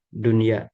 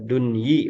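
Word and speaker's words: دنيا: Tapi karena ini polanya seperti ini, nah sehingga tetap dibacanya dunya ya, tidak dunyi. Begitu ya.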